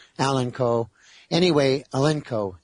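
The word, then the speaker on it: Alinco: and there's several models Allen Con Allen Co. Anyway, Alenco, I'm sorry I kept pronouncing it wrong.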